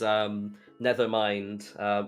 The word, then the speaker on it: Nethermind: There was Nethermind, which sounds like the word Nevermind, but the word never is nether, like Minecraft.